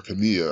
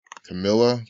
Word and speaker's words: Camilla: corporate in this act Camilla or Kamiya I don't know I pronounce it Camilla right Camilla because she's not Spanish right it's Pike Camilla